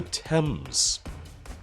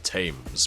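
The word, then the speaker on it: Thames: London because um it it's like the uh the temps I thought I would have thought it was called the tames but nope oh hello rucky can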